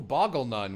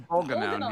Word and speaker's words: Bolganone: Ooh, Boggle Nun, which is not how that's pronounced, but it is how I will say it. Boggle Nun. How do you guys say this? Because I saw this name. Bolganone, yeah.